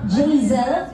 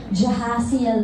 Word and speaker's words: Jaisel: Jaisel, ayan, no? So, kasi nahirapan nyo iba mag-pronounce ang name ko kasi parang Jahaziel daw. Kasi yung name ko is Jaisel.